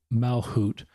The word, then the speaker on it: Malchut: A L C H U T Carl um Mal Hoot is how Carl's name's pronounced.